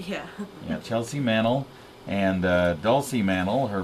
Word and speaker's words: Chelsea Mannel: with with Girl Scout cookies we have a Chelsea Manel did I pronounce it right yeah yeah Chelsea Manel and uh doy Manel her mom here to